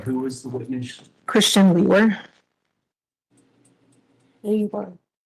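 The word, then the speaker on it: Liewr: name is Christian and my last name is spelled l i e w r and it's pronounced leer and where are you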